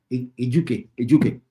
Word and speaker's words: Ejuke: And then, is that Ejuke? If I'm pronouncing his name right? Yeah, the guy who came in. Yeah, Ejuke.